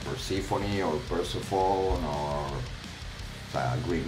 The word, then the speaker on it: Persephone: I'm from Persephone. That's how we say it. Just like that. Persephone, not Persephone or Persephone or a Greek name, a goddess name, and we always say Persephone.